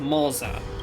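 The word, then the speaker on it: Moze: get used to that his name is pronounced MOA by default I keep think you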